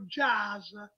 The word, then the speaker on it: jazz: Allora, fammi parlare, in Italia dicono, sbagliando, dicono jazz, invece siccome la parola è americana, perché il jazz è nato in America, si pronuncia jazz con la S dolce, non jazz all'italiana, che non jazz, vuol dire niente.